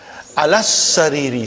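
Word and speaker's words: على السرير: As-sariru, alas-sariri. See, brother Farooq, how I am pronouncing? As-sariru, alas-sariri. It's a shadda. Alas-sariri. I did not pronounce the alas-sariri. I did not pronounce alif. I did not pronounce lam.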